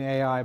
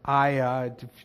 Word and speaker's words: Ai: So Ai in Hebrew, I've been saying Ai, but it's actually just pronounced I, or Aya, depending on if you put a vowel there or not.